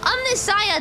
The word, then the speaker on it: Omnissiah: Omnissiah, that's how they pronounce it.